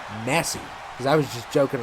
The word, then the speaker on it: Messi: And they said, and I was like, is the last name pronounced Messi?